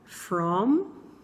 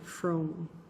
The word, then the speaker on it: from: Você tem falado assim, ó, from, ou você tem falado assim, ó, from, como se tivesse um N no final.